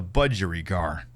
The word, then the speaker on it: budgerigar: do I pronounce b-u-d-g-e-r-i-g-a-r ah budgerigar it is a budgery car okay are you convinced